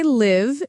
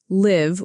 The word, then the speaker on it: live: I live in London, that's live with a short I sound.